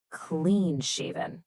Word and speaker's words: clean-shaven: Pay attention to the pronunciation here. Clean-shaven. Notice that heavy stress right on clean.